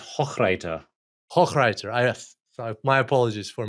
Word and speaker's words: Hochreiter: Hochreiter. So my apologies for mispronouncing.